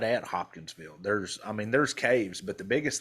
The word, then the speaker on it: Hopkinsville: Hopkinsville.